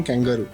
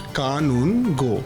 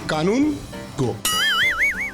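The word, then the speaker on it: Kanungo: People call me कैंगारू। हाँ, हम लोग ने सुना कैंगारू के साथ ना, कैंगारू के साथ ना। But my surname is pronounced कानून गो। Very easy, कानून गो।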